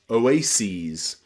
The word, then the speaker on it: oases: you just add es, oases. Same with crisis becomes crises, and thesis becomes theses, okay? That es on the end of words here is always pronounced ease, ease, because they're taken from Greek, okay?